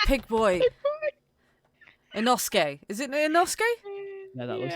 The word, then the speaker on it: Inosuke: Is it Inosuke? Yeah, that looks like Inosuke.